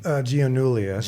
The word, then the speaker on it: Gianulias: The pronounced of your last name? Gianulias.